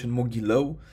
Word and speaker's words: Mogilev: en masa en Mogilev.</i> En rumano, se pronuncia Mogileu.